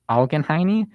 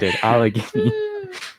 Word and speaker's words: Allegheny: like more spiff specifically i'm going to butcher the name but it's algen hiney county in pennsylvania i probably butchered that y'all but allegheny yes i butchered it okay sorry allegheny anyways so i just